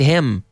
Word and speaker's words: him: Who's behind him? Y nada de hin. Hin, no. Him.